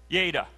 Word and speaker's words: yada: That word knew, if you look in the Hebrew language, okay, it's translated with a long A there, so that's yada.